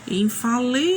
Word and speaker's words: infalível: Quando você fala dessa maneira, você puxou com mais intensidade, com mais força uma sílaba. Qual foi essa sílaba? Infalível. Então, foi o li.